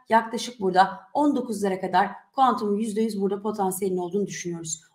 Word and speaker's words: Qtum: Bitcoin ve Ethereum'un projesini baz alarak bunların en kötü veyahut en çalışmayan taraflarını işleten ve kendi ağı olan Qtum, yani Quantum diye okunuyor aslında. Qtum diye okunmuyor.